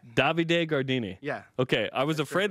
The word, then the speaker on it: Davide Gardini: Davide Gardini.